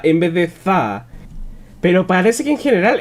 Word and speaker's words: þá: debo reconocer que si suena como si dijese da en vez de Za pero parece que en general está pronunciando las fricativas dentales y como si fueran